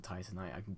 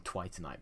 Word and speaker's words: Titanite: I remember a long time ago when I mispronounced Twinkling Titanite. I started calling it Twinkling Twitanite because my brain died whilst I was trying to pronounce it.